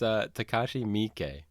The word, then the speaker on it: Takashi Miike: Sure, it's Takashi Miike.